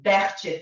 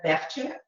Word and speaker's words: Behçet: So the true name of this disease is Behçet disease. That's how the entire Turkey medical community pronounces it. Somehow in the States, it's called Behçet. To the point that I had a case like that on my boards and I said Behçet and nobody understands what I'm talking about.